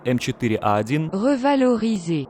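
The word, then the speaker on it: M4A1 Revalorisé: французского среднего премиумного танка m41 говорил изей да именно так произносится его название ну или же как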